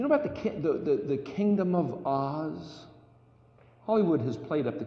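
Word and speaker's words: עֹז: And it means, it's pronounced Oz, and it means glory, splendor, might, bold, dynamic, acrid, sharp, pungent, just blazing color.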